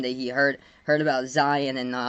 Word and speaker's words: Zion: game asked me about Zeon like that was the that was the first time that he heard heard about Zion and he pronounced him Zeon oh wow yeah that's